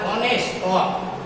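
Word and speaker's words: honest: যেমন এখানে দেখো অনেস্ট, অনেস্ট সেখানে এইচ এর উচ্চারণ হচ্ছে না, এখানে কি উচ্চারণ হচ্ছে? অ উচ্চারণ হচ্ছে অনেস্ট, তারপরে আওয়ার, আওয়ার।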